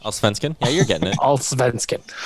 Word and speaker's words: Allsvenskan: Tyler, I need pronunciation. Allsvenskan?